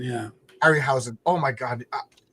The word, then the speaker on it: Harryhausen: Harryhausen, yeah. Harryhausen.